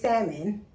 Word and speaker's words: salmon: But it's salmon without the L.